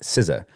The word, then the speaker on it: SZA: interpret this the artist sza uh is pronounced siza like I'm guessing Rizza and Giza from mutang I don't I don't